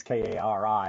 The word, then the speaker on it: Kari: I want to pronounce it Kari. I don't know why. It's Kari, but I'll be bringing her in just a moment.